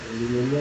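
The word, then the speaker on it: pneumonia: तो ये इंपॉर्टेंट है यार, न्यूमोनिया में पी साइलेंट होता है।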